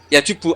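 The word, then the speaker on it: يَجُبُّ: Itu bacanya bukan yajibu tapi apa? Yajubu yaktok.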